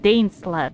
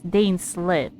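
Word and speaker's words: Dainsleif: pronounce dane slip's name it's not dane slap it's dane slit i send you here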